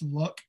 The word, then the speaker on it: Luck: She escaped, and I know I always pronounce this wrong, it's Luck Ghetto, L-U-C-K.